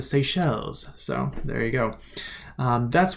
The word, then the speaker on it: Seychelles: just southwest of India I always pronounce that the say cellies because I don't speak French but in the audiobook they oppress the seychelles so there you go